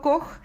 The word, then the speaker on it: Koch: Bueno, espero que les haya gustado la historia de Roberto Koch, que se escribe K-O-C-H, pero en alemán se pronuncia Koch.